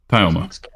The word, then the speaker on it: Tyoma: Because I get a lot of Tao or Teo. You just like do like Thai like Thailand, because people know how to Well, say Thailand. Sort of, because it's the thing that fucks people up, I guess, is that it's not 3 syllables.